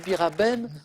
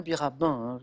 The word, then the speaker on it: Biraben: maitena birabin parce que beaucoup disent Biraben mais c'est bien birabinin parfois il y a des mauvaises prononciations comme ça qui s'installent et Karine Le Marchand